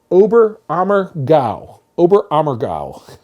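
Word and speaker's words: Oberammergau: in an area in Bavaria let's see it's pronounced obber ammer obber amow I had to I had to write down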